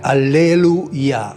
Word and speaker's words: alleluia: Tra l'altro la forma Yah è attestata sempre in un termine che molti pronunciano senza conoscerne realmente il significato, che è, come diciamo noi, alleluia. In realtà è alleluia, cioè l'imperativo allelu è lodate Yah, cioè lodate Yahweh.